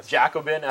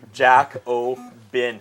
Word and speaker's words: Jacobin: seeing it right now Jack Ohman yeah which would give it phonetically written out there yeah I do Jack Oh bin I butchered it the first couple times and Jeff called jnana